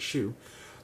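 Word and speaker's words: Xu: And so that's why Professor Sue, he's this Asian dude, I love him to death, XEU, but he pronounced it Shu, to have open book, open notes, which means open Chegg.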